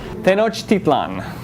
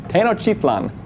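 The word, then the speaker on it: Tenochtitlan: let's practice pronunciation we'll break it down by syllables tenan tenlan that's a fun one let's say it one more time on the count of three ten tenlan one two three very good see the way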